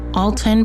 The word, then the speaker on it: Alton: Alton pronounced A W L T U N.